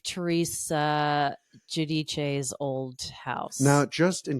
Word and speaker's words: Giudice: Now, in the New York, New Jersey metro area Italian, Teresa does pronounce that Judice, which I just feel is not as attractive as Giudice.